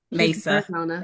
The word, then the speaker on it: Mesa: I don't know if it's pronounced Mesa or Misa. So, I'm just gonna Mesa. Mesa.